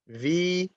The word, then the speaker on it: Vietnamese: So it's 4 syllables. Vietnamese. Accent or stress on the last syllable. Okay. By the way, in English, when we pronounce the word Vietnamese, the S is voiced. Z, Vietnamese.